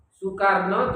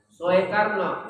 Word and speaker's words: Soekarno: lama itu dejang kemudian kalau Soekarno tulisannya Soe Karno soharto juga gitu Soe Harto itu ejaan lama bacanya tetap su bukan Soe bacanya tapi anak-anak kita sekarang